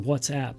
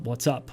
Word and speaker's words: WhatsApp: starting with ICQ and whatsapp and by the way it's pronounced whatsapp not what's up what's up means hello